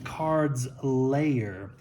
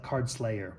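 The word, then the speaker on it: Cards' Lair: we have uh the cards layer not to be confused with cards SL card Slayer which what I first first heard this this pronounced I thought it was being called the card Slayer it's the cards layer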